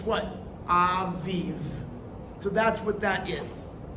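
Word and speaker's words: אביב: So it looks like this if you were to write it in English. A-V-I-V. Right? Aviv. But it would actually look more like this. I'm using transliteration. A-V-E-E-V. Right? Makes what?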